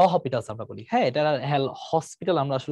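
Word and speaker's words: L'Hôpital: আমরা বলি হ্যাঁ এটার এল হসপিটাল আমরা আসলে উচ্চারণ করি এটা আসলে এল হসপিটাল না এটার এস টা আসলে উচ্চারণ হয় না এখানে একটা এস থাকে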